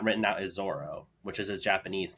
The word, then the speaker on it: Zoro: so it's like the it's like a soft R almost so this is also the reason why the character from One Piece Zoro is sometimes referred to as Zolo because of the English pronunciation of the word so fun fact for